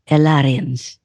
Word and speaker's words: Alarians: Alarians. It doesn't matter what language anyone speaks. That's how it phonetically sounds.